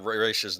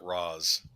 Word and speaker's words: Ra's al Ghul: Now, if only Nolan would have said Raish's name right. Yes, he said it Ra's.